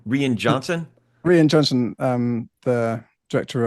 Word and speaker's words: Rian Johnson: Rian Johnson.